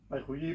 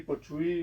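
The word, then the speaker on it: 白居易: Baijuyi, Pochuy, ¿no? Hay como bastantes pronunciaciones así variadas, ¿no?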